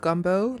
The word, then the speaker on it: gumbo: It's pronounced gumbo, like literally how it's spelled.